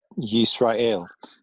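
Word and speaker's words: ישראל: Yisrael. Yis, closed syllable. Ra, open, and El, closed.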